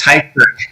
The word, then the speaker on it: Tykert: It's Tykert. Think of tie and curtains.